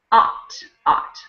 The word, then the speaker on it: ought: Even though it uses the same vowels, it's ought.